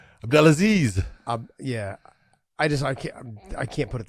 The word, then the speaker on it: Abdelaziz: Abdelaziz. I butcher it. I know you know how. Abdelaziz.